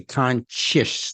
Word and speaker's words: conscious: So it's really just the SC sound, which they say is it's like the CH sound. They say conscious. They don't say conscious, right? They say conscious. So even though it's spelled with an SC, it's really CH sound. Can you hear that?